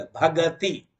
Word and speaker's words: भक्ति: हाँ, हम लोग जो उच्चारण करते हैं ना, भक्ति, थोड़ा उत्तर प्रदेश आदि में, या तो विशेष करके पंजाब हरियाणा में सुरेंद्र, वो सुरेंद्र नहीं बोलेंगे, स्पष्ट उच्चारण सुरेंद्र नहीं, सुरेंद्र, नरेंद्र, महेंद्र। तो भक्ति नहीं बोला, भगति।